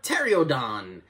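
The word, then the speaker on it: Pteranodon: also runs into a tereodon which again i'm pretty sure uh you pronounce the p in that word but i digress kong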